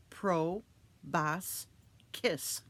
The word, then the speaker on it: proboscis: its proboscis what's a proboscis asked Josh it's pronounced pro boss kiss and it's just like